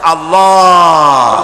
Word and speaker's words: আল্লাহ: আল্লাহ পাকের উচ্চারণটা হচ্ছে আল্লাহ পাকের নামের উচ্চারণ হচ্ছে আল্লাহ মুখটা একটু গোল হয়ে যাবে বলেন আল্লাহ আল্লাহ